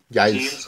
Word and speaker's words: Giles: No sé cómo se pronuncia Giles o Giles o no sé. Giles, sí. Ok, Giles.